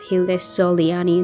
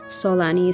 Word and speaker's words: Hilde Soliani: It's Hild Solani, not Solani.